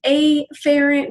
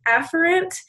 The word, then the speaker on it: efferent: be divided into the a ferret division now here I've mispronounced my term it should be efferent but I do want to make sure you're hearing that it does begin with an a a ferret division this